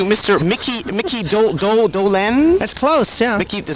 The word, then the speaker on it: Dolenz: we're speaking to Mr Mickey Mickey do do Dolan that's close yeah Mickey is that how is that how you pronounce it yes Dolan yeah of the of now of Solo solo